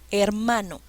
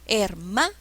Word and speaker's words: hermano: por la entonación ejemplo hermano se paró en sílabas el mar no cuál es la sílaba que lleva la mayor fuerza de voz hermano no es la sílaba ma este es un acento